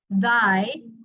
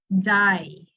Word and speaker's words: thy: For thy, instead of mentioning it as thy, some people mention it as die.